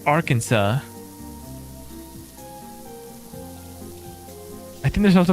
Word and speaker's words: Arkansas: I think the reason why they say Arkansas is because it has like some French background, right? It's not our Kansas. It's Arkansas.